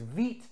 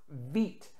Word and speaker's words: wit: wheat beer style but it is pronounced vite for the color white nonetheless let's get this